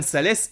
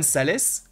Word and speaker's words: Salès: Johan Salès, alors je sais pas si ça se prononce Salès ou Sal, mais en tout cas on va le prononcer Salès parce qu'il y a un S à la fin, en tant qu'élu, exige